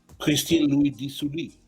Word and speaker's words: Christine Louis-Dit-Sully: I want Pascal to say her name because I love it when you say it with the French accent. Christine Louis-Dit-Sully.